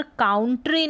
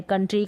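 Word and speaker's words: country: फिर यहाँ पर है ओ यू का, यहाँ पर काउंट्री नहीं है, यहाँ पर कंट्री है, कंट्री का मतलब देश होता है, तो कंट्री है। यहाँ पर ओ यू को अ पढ़ा जा रहा है, इसका उच्चारण अ। तो मोस्टली आपको आ उच्चारण मिलेगा, लेकिन जैसे कंट्री में है यहाँ पर अ उच्चारण है।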